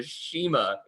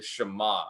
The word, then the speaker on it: Shema: percent chance but Jesus would have called it the Shema this is they had to go back and rerecord over it then pronounce it correctly the Shema so they caught it